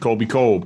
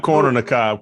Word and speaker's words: Colby Colb: Colby Colb. Colby Colb. Colby Colb. Not corner the Cobb.